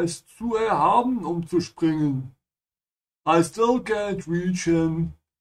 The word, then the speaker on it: springen: Remember to pronounce the S like sh because it comes before a P. Ja, springen.